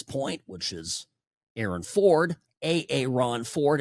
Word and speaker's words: Aaron Ford: Aaron Ford is how he pronounces it, our Attorney General.